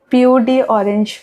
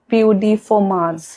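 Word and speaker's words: peau d'orange: Other than that एक symptom होता है जिसको POD ऑरेंज बोलते हैं। एक्चुअली ये एक फ्रेंच वर्ड है, इसका प्रोनाउंसिएशन इज POD फॉर्माज।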